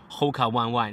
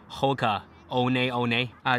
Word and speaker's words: Hoka One One: It's not pronounced as Hoka One One. It's Hoka One One.